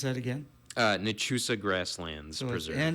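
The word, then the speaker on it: Nachusa: So how do you pronounce that again? uh Nusa Grasslands Preserve.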